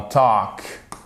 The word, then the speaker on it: talk: C'est comme dans talk. On prononce pas le L aussi.